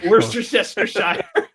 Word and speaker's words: Worcestershire: Don't worry, I'll tell you how to pronounce them. Apart from Shrewsbury, is it Shrewsbury or Worcestershire? Worcestershire. Yeah, that's the one you guys. That's the one you guys have the most problem with, isn't it? Worcestershire.